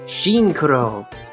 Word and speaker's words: Shinkuro: So I will summon Karakuri Barrel, model 96, Shinkuro. You get it? Sure. It's a tuner, and it's pronounced the same way as synchro.